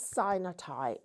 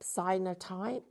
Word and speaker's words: cyanotype: So, we're bringing you this thing where you It's called sinotype. Cinotype. Cyanotype. It's up to you. Different ways of pronouncing it.